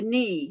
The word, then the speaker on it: knee: had silent letters like the knee starts with a k um this is also